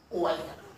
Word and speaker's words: choir: Wire. What a beautiful word to pronounce.